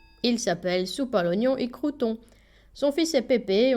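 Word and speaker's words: Soupalognon y Crouton: Attention à la prononciation. Il s'appelle Soupnon et Croûon.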